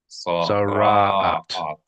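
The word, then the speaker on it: Tzaraat: The accent on the middle accent. Sara'at. Zara'at. That's it. 3 syllables. The middle syllable is the accented one.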